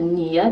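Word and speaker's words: NIE: It's called the NIA, that's how they say it. And it's basically a national insurance number, and it's spelled with N.I.E.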